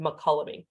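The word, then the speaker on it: Mokelumne: and we damned the makolami river and that's how you pronounce that word mccullomy and we basically took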